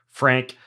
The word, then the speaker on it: Frank: Frank Llosa. It's spelled with 2 L's, right, Frank?